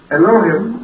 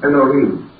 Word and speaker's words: Elohim: We generally pronounce that as Elohim, or more perhaps correctly, Elohim.